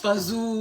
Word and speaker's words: fagioli: It's pronounced fazoo.